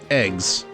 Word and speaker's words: AGWS: agws in the submenu yeah they they pronounce it eggs unit kind of like if you're saying eggs but it's like egg eggs yeah I I know